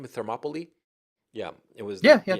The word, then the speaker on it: Thermopylae: How do you pronounce that name? Thermopylae.